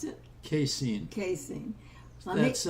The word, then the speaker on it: casein: So let's move on to another thing we should avoid, and that's called Can you pronounce it? casein.